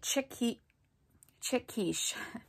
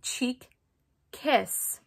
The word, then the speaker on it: Cheek Kiss: I have tons of blushes, but this is the Milani Chic Quiche. No, Shannon. It's the Milani Cheek Kiss Cream Blush. Okay, there, I said it right instead of like, I